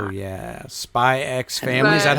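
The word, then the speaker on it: Spy × Family: Spy X Family, or is it just Spy Family? I think it's just Spy Family. I think so too. Because that apparently Hunter X Hunter is just Hunter Hunter. They don't pronounce the X.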